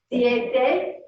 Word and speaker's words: siete: 7 is siete. Siete. Excellent. Siete.